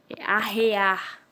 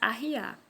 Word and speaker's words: arrear: Em alguns locais, pronuncia-se ambas arriar, tanto por arreios como descer. Só que a pronúncia original é arrear, quando vai colocar arreios no cavalo, ou arriar, quando se